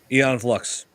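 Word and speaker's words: Aeon Flux: Eon Flux.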